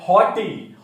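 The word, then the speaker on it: haughty: पहला ऑप्शन है हॉटी। हॉटी, इसमें जीएच बीच में आ रहा है लेकिन उसका प्रोनाउंसिएशन नहीं होता, दैट इज साइलेंट। तो हॉटी, जैसे नॉटी वर्ड होता है, ये है हॉटी।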